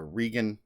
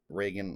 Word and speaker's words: Regan: seems like her daughter reagan is a regan reagan i think is how you say it actually reagan but um seems to